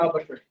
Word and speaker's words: Albuquerque: Albuquerque says, the funds of the Albuquerque. Well, that's how we pronounce it. I'm sure that's not how it's pronounced in Portuguese.